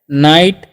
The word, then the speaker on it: night: और यहाँ पर NIGHT है, तो इसे हम लोग पढ़ते हैं नाइट।